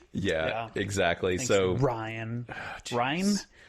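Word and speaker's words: Rian: Ryan. Because it's not Ryan. It's spelled like rain.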